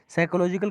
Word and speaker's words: psychological: साइकोलॉजिकल का spelling देख लीजिए, पी साइलेंट रहता है, PSYCHOLOGICAL।